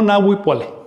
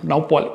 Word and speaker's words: Naupuali: No Nauipuali, sino Naupuali, etc.